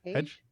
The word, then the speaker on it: Hage: You arrive on the bridge, and Captain Gerard or Captain, how did you pronounce his name? Hedge. Okay. Age. Captain Hage is on the bridge, and Cass comes onto the bridge.